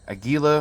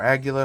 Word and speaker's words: Aguila: The ammo we're going to be trying today is CCI Standard Velocity, some Aguila or Aguila, however you want to pronounce it, subsonic, and then the Super Extra Supersonics.